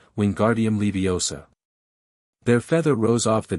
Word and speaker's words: Wingardium Leviosa: Wingardium Leviosa, he shouted, waving his long arms like a windmill. You're saying it wrong, Harry heard Hermione snap. It's Wingardium Leviosa, make the gar nice and long.